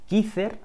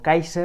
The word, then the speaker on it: Kizer: it is pronounced is In English or Spanish, it would be kisser or kaiser as the Americans call it, it is a Chinese